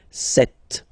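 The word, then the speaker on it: sept: Then here, remember, P is not pronounced, okay? It doesn't exist, so you get this set sound.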